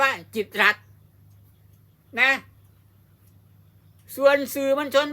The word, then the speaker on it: กิตติ์รัฐ: ฟัง ให้ ดี นะ ถ้า ไม่ มี มธน ฆาต ต้อง อ่าน ว่า จิตติรัตน์ แต่ ถ้า มี ธน ฆาต ตัว นี้ ตัว ติ เนี่ย จะ ถูก ฆ่า เสียง เมื่อ ถูก ฆ่า เสียง ก็ ต้อง อ่าน ว่า จิต รั ต้อง อ่าน ว่า จิต รัฐ นะ ส่วน สื่อ มล